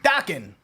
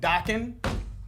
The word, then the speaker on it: Dokken: also we of course know was pronounced Dakin like rocking with Dakin okay cuz we all